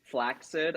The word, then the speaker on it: flaccid: a regular Temple but just the tip is flacid that's okay okay right um can I tell you something it's actually actually pronounced flaid I learned this but it's even worse to